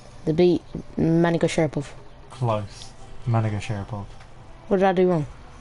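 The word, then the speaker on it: Magomedsharipov: No, you said it wrong the first time. That time it was right. What did I say the first time? You said like Mani Sharapov.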